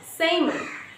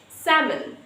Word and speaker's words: salmon: It's just salmon. Because here L is just missed out because that's the silent L in this word. So it's salmon.